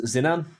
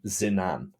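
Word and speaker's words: Zinnan: uh I do apologize uh my name is zinan how would you spell that zenan Zed i n n a n zinan I do apologize I am zenam I am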